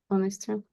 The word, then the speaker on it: honesty: But it sounds so strange, had honesty. Honesty. Honesty or an honesty. Yeah, we have sound o, so it's a vowel, so you use n.